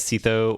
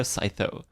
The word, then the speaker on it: psytho: all right Saito so I have never had a problem figuring out how to pronounce psytho I've never read it as Cito or sitho it's definitely Scyther to me honestly it's very like it has that punch you know psytho it actually works really well as a username it's short clear to pronounce at least for me